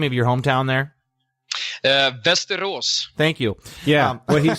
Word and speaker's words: Västerås: Västerås. Thank you. Yeah, what he said. It's beautiful. It is beautiful, but I was going to butcher it, so I wanted him to say it. Västerås, something like that.